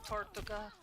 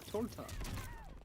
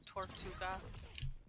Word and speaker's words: tortuga: How do you say turtle in Spanish? Tortuga. I thought it was torta. No, Tortuga. Tortuga.